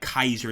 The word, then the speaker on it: Caesar: end Ka uh but it would be that Kaiser that hard k um instead of a